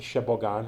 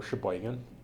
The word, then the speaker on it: Sheboygan: that's how he survived so he went to shebogan or Sheboygan and he traveled from Sheboygan on a bus